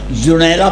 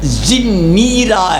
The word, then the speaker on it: زنیرہ: رحمۃ اللہ علیہ نے جنیرہ پہ حاشیہ لگا کے نا لکھا ہے یہ زنیرہ ہے، بولو بولو سارے، زنیرہ، اور ساتھ انہوں نے لفظ لکھا ہے جیسے مسکینہ، بولو تلفظ یاد رکھو گے، بولو، لیکن علماء کے گل نہیں پڑھنا، بولو زنیرہ، یہ رحیق المختوم کے حاشیے پہ لکھا ہے، انہوں نے وزن لکھا ہے زنیرہ، زنیرہ نہیں۔ اب میں واپس جا